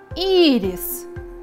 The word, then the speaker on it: ирис: «Ирис». «Ирис» – это цветок. Ударение падает на гласную «и». И первый слог в этом слове является ударным.